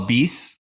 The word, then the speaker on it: Bis: You call bis? Bis, it's like bis. It means two, twice, or another in both French and Italian.